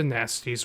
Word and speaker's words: Gnasty: Off to Nasty's World or Gnasty as it's pronounced.